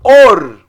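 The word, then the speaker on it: אור: Or. Or. O Aleph, ele não tem som. Qual o sinal massorético associado ao Aleph? É o Rolen Vav, som de O.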